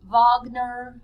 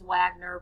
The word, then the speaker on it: Wagner: Wagner. I know that says Wagner, but it's pronounced Wagner.